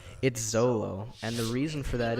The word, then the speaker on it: Zoro: They were like, well, name him Zolo, but in Japanese it's pronounced Zoro, so it's what we want to be in the beginning anyway.